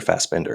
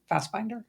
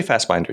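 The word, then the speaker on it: Fassbinder: and actor rer Warner fast binder or fast Bender how do you say it I go fast binder I say fast binder too yeah it's like a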